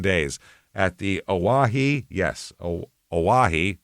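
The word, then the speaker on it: Oahe: Yes, Aahi is how you pronounce that.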